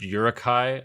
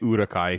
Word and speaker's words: Uruk-hai: At least in the original trilogy, they they say Uruk-hai, yeah. They don't say Yuruk. There's no yo yo yo sound.